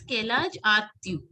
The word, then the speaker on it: quel âge as-tu: It is Kelaj Atyu. Quel âge as-tu? J'ai Quel âge 32 as-tu? ans. Kelaj Atyu. मतलब यू जैसे बोलते हैं ना इंग्लिश में वैसे ट्यू.